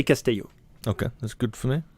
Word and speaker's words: Casteillo: and there but Casto Castillo in France we say Casto okay that's good for